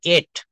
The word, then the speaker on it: ate: যদি বলা হয় আমি খেয়েছিলাম, ইট ভার্বের পাস্ট ফর্ম হচ্ছে এট। অনেকে অ্যাট বলি, অ্যাট হবে না, এটা হবে এট। আই এট rice, ATE।